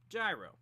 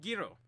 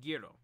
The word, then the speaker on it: Gyro: gyro I know over here in America we pronounce it gyro whoever that dad's a Pelle it comes from Italy and they're they pronounce it Giro heroes that's how you pronounce it in Italian